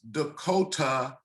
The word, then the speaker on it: Decoteau: The pronunciation is Decoteau, and your name is spelled D-E-C-O-T-E-A-U. That's correct. That's correct. Can you give me a brief background on that spelling? Yeah, so it's a French spelling. The folks that I was named after in South Carolina's last name is pronounced Decoteau. So it's D-E-C-O-T-E-A-U, a French spelling, French last name.